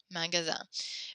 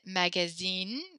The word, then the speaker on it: magasin: Magasin, magasin. Make sure you don't say, you pronounce it magazine, because that's a magazine like the floppy book. So we want to say magasin, magasin.